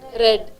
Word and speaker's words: read: is the past tense red what is the spelling same are not readed read same spelling but the pronunciation changes I read she dashed to